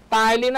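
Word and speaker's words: ptyalin: টায়ালিন আছে আর maltase আছে, তাই না? টায়ালিন, টায়ালিন এর বানানটা কিন্তু আপনাদের ঠিক রাখতে হবে। টায়ালিন, টায়ালিন, পিটা এখানে সাইলেন্ট, ঠিক আছে।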